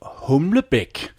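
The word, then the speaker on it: Humlebæk: l e b a e k oh so humic and and and by the way that is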